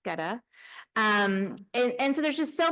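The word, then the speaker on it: Goetta: Geta, I would encourage you to have Geta, pronounced Geta.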